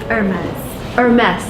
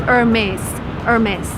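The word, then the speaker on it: Hermès: how to pronounce your brand name uh it's hermes or mess yeah so you actually pronounce the last it's a french brand so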